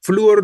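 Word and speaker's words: flúor: mencionar el inciso a fluor no es un monosílabo no porque Qué sucede entre la u y la o un yato sucede un yato la tónica es la débil Entonces es ese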